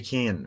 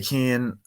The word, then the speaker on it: Cian: So we've Hey Keen from Hayden Jones Media. Hey Kane, what? Just saying, it's spelled CIAN. Just saying. So it's Hey Kane.